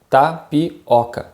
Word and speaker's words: tapioca: the pronunciation here is tapioca tapioca here we have this o sound which is a bit more open making this o sound tapioca another typical food from